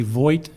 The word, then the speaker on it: Voigt: My name is Voigt. It's spelled V as in Victor, O-I-G-H-T.